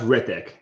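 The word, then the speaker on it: Hrithik: By the way, it's pronounced Rithik. The H is silent.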